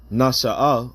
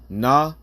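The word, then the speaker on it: נשא: But let's go into the word Nashaah, all right? And that's really how you pronounce it in the Hebrew.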